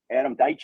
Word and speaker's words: Deitch: Well, I think you know, I think Adam Deitch, I think is the right pronunciation. I think he uses it as an I, not an E.